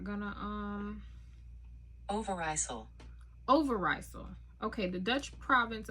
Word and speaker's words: Overijssel: It's 15 years since the Second World War, and the rural Dutch province of, let's see how we pronounce it. We're not gonna, Overijssel.